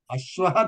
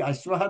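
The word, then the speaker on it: अश्वः: Ashwaha dhavati. Next, how to make sentence? Next one. Ashwa dhavatah. Ashwau dhavatah. Correct. Next. Ashwa dhavanti. Ashwaha. You have to pronounce that hakaram.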